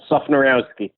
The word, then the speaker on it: Sufnerowski: It's pronounced just as it's spelled. Sufnerowski.